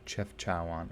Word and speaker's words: Chefchaouen: the do you say that chef chowin chef chewin dear god um god i wish wikipedia had pronunciations it would make life a lot easier the blues okay today we're exploring internationally chefchaowan okay cool thanks random guy on the internet